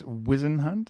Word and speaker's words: Weisenhunt: It's Wizenhunt. I'm so sorry. Everybody does it. It looks like it's spelled Weisenhunt.